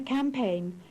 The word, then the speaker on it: campaign: The silent GH.